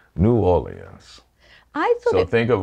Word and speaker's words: New Orleans: a foreigner to pronounce if you think of the French Rhythm o Leon yeah we have the French Rhythm without the French sound new orens so that's the way to think of it New Orleans I thought